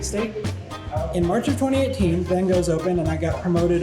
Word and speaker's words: Van Gogh: It's actually pronounced Van Gogh. Okay, Van Gogh.